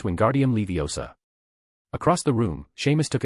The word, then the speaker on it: Wingardium Leviosa: And pronouncing the incantation correctly is very important. It's Wingardium Leviosa.